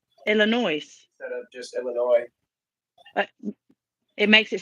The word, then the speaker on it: Illinois: us Illinois CLE is some people pronounce it with the S on the end call it Illinois Illinois instead of just Illinois it makes it sound